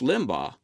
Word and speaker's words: Limbaugh: look at her charge that Limbaugh is a virulent racist and yes college girl that's how it's pronounced this isn't new I've